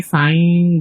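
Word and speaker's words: sein: এটা যদি এস একটু হচ্ছে নর্মালি হচ্ছে জয়ের মতো উচ্চারণ হয় জার্মানে। তো আপনি সাইন বলতে পারেন, সমস্যা নাই। জার্মানে কিন্তু আবার জাইন বলে, বুঝছেন ভাইয়া?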